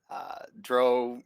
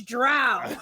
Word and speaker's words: drow: I play Bryn Vrog, a drow rogue assassin fighter combo. Complete. There is an argument, Thad, in some circles of how you pronounce that, whether it's drow or dro. And it's drow.